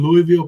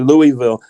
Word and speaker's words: Louisville: they do it long you don't put s in it and say Louisville